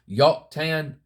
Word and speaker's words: Joktan: Concordance and I defined Joktan, or you can say that J can be pronounced as a Y, Yoktan, let's just say that.